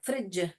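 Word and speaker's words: fridge: फ्रिज का spelling है DG। ये जो DG है, ये ही ज का साउंड करता है। ये ज का साउंड करता है, ज। ओके, जे करके नहीं बोलते हैं हम इसको,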